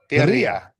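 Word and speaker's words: birria: Yeah, you gota it's it's b i r r i a. But it's bir double. You gota roll the bira.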